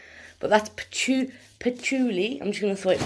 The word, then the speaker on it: patchouli: on the group because none of us can pronounce it right but that's patchouli i'm just gonna throw it back in the